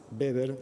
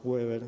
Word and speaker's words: Weber: Hay un sociólogo muy conocido, muy conocido, que es Max Weber o Max Weber, como quieran pronunciarlo, que ha estudiado la